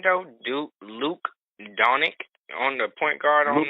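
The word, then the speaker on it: Dončić: Luke Doncic on the point guard on Luka Doncic?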